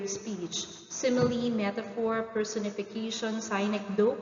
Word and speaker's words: synecdoche: The following are the samples of figure of speech: simile, metaphor, personification, synecdoche, or others pronounce it as synecdoche, metonymy, allegory, hyperbole, irony.